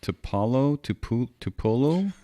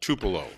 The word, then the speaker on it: Tupelo: Finally, we have Rashid from, I'm not sure how to pronounce this, Tupolo? Jim, you got to get out of the house more often. I believe that's Tupelo.